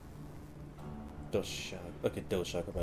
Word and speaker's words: Doshaguma: Doshaguma, that's how it's pronounced.